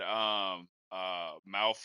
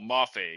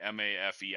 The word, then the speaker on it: Mafe: Yeah, and then they had Malfo or whatever for the Seahawks. I might be saying his name wrong. I screw it up. Oh, Mafe, excuse me. Mafe.